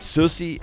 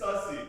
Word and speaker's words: sussy: Susy. Susy Baka. Is that how you pronounce it? It's sussy. Sussy.